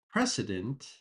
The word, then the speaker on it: precedent: But with the word precedent, there is an S sound. Precedent.